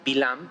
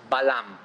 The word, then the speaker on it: Balam: hablar con Balam o muchas veces se lo pronuncia se lo pronuncia bilán pero el nombre del de vilam en arameo el nombre que él utilizaba es Balam después vamos a saber por qué en la torá aparece como belam Sí dice vas a